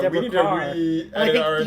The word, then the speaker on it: Deborah Kerr: Deborah, I was shocked to learn that Deborah Carr's name is pronounced Deborah Carr. We need to re-edit our entire King and I episode, probably. During the show, I've called her Deborah Kerr, and so Ron taught us something new.